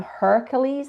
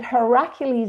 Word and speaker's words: Heracles: You may be more familiar with the term Hercules as opposed to Heracles. But Heracles is really the way you pronounce it.